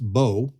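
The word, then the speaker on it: בוא: It's pronounced bo, and it just means to come in or to bring in a harvest.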